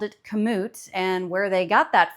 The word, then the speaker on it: Kamut: and all the people and everything, it is pronounced Kamut. So not Kamut, not Camus, Kamut.